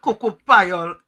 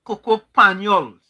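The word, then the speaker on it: cocoa panyol: It's not cocoa payol, it's cocoa panols.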